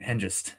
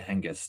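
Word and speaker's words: Hengist: But and also you had a problem with the pronunciation of the Saxon leader name. Oh yeah. Shoot. Henist. That's how you say it. I think they said hang the entire time or something.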